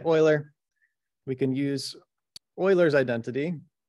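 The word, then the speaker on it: Euler: can use oil's identity I still not exactly sure how to pronounce oil's name I'll just I'll just say Oiler we can use Oilers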